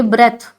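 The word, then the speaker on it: breath: और जब ये नाउन फॉर्म में होगा सांस, तो ये ब्रेथ ऐसे यूज होगा, माने सांस, ये नाउन फॉर्म होगा उसका।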